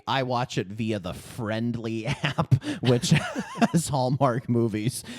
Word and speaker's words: FRNDLY: And you'd probably think Friendly has vowels and is spelled the normal way. It's FRNDLY, and it's got that Hulu green, baby. You could almost mistake it as Hulu. Friendly.